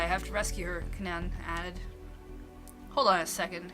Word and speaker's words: Canaan: girl thing didn't we it's pronounced canon i'm not sure usually you gotta pronounce both a's always tripped up by the words that have the the doubles like that that's why i have